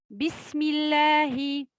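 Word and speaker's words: بسم الله: Bismi, bismillahi, bismillahirrahmanirrahim. Il faut bien prononcer Allahi, le alif.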